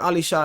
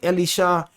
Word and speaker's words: Elisha: This is a great example in context of what Elisha is doing, right? And you can see his name say Elisha, but we say Elisha because that's how you say it.